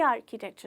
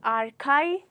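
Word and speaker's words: architecture: pronounce करते हैं तो इट्स नॉट आर काई इट्स आर्किटेक्चर ठीक है चलिए बढ़ते हैं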